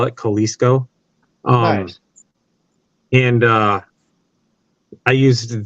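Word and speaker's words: Kolseco: called kalisco Inc AOL k-o-l-s-e-c-o is how you spell it Kalisto um and uh I used their Authority so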